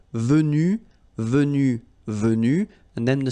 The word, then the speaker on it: venus: So basically you get the pronunciation venu, venu, venu, and then the same thing, venu, you don't pronounce this final Venu, you don't pronounce the final S.